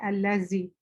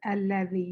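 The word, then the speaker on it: الذي: Alladhi. Alladhi. For example, this is one of those letters that people may say allazi. It is alladhi. You put your tongue between your teeth.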